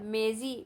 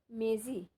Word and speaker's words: मेजी: यह है जापान में मेजी यह बेटा स्पेलिंग गलत है मीजी नहीं है मेजी है मे जी मेजी जापान में मेजी शासन